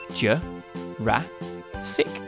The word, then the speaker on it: Jurassic: ago in the mid to late Jurassic period sure rat sick so Brachiosaurus would have been neighbors with Stegosaurus